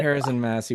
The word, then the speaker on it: Harazin-Masi: Today, on the program, we have Harazin-Masi. Did I say the last name correct? Harazin-Masi. All Harazin-Masi. the pronunciations are valid. Okay, It's Harrison-Massey.